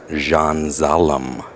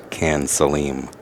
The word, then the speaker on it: Can Salim: than Joshua filler and Jean zalam other otherwise known as K Saleem if you spell it out looks like Jean has